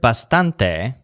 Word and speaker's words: bastante: stand there like that the word bastante whose stress syllable sounds kind of like stand means quite or quite